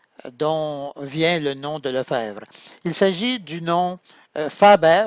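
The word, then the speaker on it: Lefebvre: Par exemple, d'où vient la lettre B qu'on ne prononce jamais au milieu du patronyme ? Le fèvre ?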